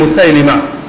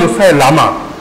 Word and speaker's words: মুসাইলিমা: এক ভণ্ড নবী ছিল রাসূলের যুগে, মুসাইলিমা। প্রসিদ্ধ হলো মুসাইলামা, কিন্তু সঠিক উচ্চারণ হলো মুসাইলিমা।